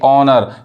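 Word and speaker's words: honour: यहां देखिए ऑनर यानी सम्मान।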